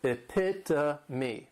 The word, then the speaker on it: epitome: This is a word that when you see it, many times people may mispronounce it because the third syllable has that schwa and the last syllable is that long E. Epitome.